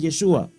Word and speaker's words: Yeshua: más antigua es ya Joshua mientras que la pronunciación aramea es yeshua o de origen arameo es importante aquí hago un nuevo paréntesis es importante aquí decir que yeshua es una palabra de origen arameo pero hoy